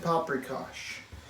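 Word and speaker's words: paprikás: like paprikas or gulas even though it's pronounced with an sh and they share in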